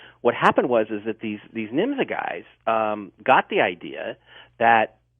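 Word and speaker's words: Nymza: And there was an organization in Germany called NIMZA, N-Y-M-Z-A, and some spellings have it N-J-M-Z-A, but it was still pronounced NIMZA.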